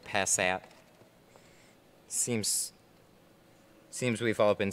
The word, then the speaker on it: Passat: My robot voice said Passat.